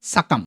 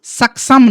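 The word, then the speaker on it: succumb: Double C ইউ এমবি সাকাম দেখ এখানে কিন্তু সাকসাম নয়। এমন নয় যে প্রথমে সিটাতে ক আর পরেরটাতে স এরকম নয়। দুটো সি মিলে শুধুমাত্র ক উচ্চারণ হচ্ছে সাকাম।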